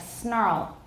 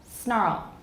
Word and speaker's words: snarl: Snarl, in theory, should be syllabic. Snarl, snarl. But how many syllables does it sound like to your ears? Snarl. Snarl. Does anybody hear two? Okay. To me, as the speaker of this particular variety, it sounds like two.